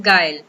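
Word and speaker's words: guile: अब आप बोलेंगे इसको कैसे प्रोनाउंस करना है, गाइल। ठीक है, दिस इज गाइल।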